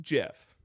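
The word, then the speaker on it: GIF: And you were also telling me it's pronounced Jif.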